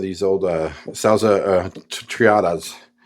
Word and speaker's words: Triada: But going through that, I noticed I had some of these old uh sala uh Triatas. Triadas. Roll my R.